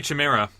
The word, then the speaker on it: Chimera: I was going to say Chimera. Okay. Isn't there just one chimera? Oh, there might just be one. Oh, man. In Greek, you pronounce the CH as a K.